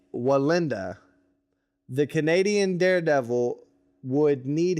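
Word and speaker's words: Wallenda: am very sorry, but I believe it's Nick Valenda. I like the accent. That helps. No, it's Nick Walenda.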